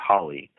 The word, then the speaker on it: Hole: by the name of Timothy Hawley, though it's spelled Hole, and I think there's some strong symbolism right there, Absolutely.